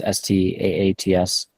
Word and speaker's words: Staats: Twitter is stats my last name is stats you can catch me